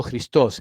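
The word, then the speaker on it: Χριστός: con una x sí la x en griego se pronuncia como una J eh Por eso digo cristos y la p esta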